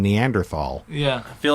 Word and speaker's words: Neanderthal: would say neanderthal there's no h there's no it's a neanderthal neanderthal and i don't like saying it like that yeah and i i almost want to fight people i know you that's the right way to say it but i like saying